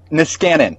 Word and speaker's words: Niskanen: And enjoy life at the give me the pronunciation again, Niskanen? Niskanen.